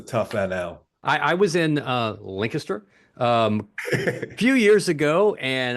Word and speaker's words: Lancaster: It's here's how I pronounce it: Lancaster, Pennsylvania.